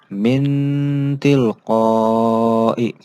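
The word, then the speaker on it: من تلقاء: Contohnya, min tilqai. Min tilqai. Nah, ini bacanya seperti huruf N.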